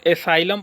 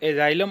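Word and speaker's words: asylum: कुछ लोग एसाइलम पढ़ते हैं, कुछ लोग एजाइलम पढ़ते हैं, आप अपने हिसाब से प्रोनाउंसिएशन कर सकते हैं, बस याद होनी चाहिए चीज़ें।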